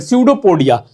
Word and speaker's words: सडोपोडिया: इसको बोलते हैं सडोपोडिया। क्या बोलते हैं? सडोपोडिया। अब कहना मत कि सर पी से स्टार्ट करो। पी is silent here. Mind it. पी is silent year. सडोपोडिया।